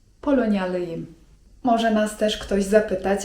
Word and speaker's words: Polonyalıyım: polonja) I jeśli chcemy powiedzieć, że pochodzimy z Polski to mówimy: Polonyalıyım (czyt. polonjalyjym) Może też nas ktoś zapytać o to jak mamy na imię.